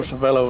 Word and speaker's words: Savello: And I always called him Joe Savella. Uh-huh. How do you pronounce it? That's Joe Savello is the way I'd pronounce it.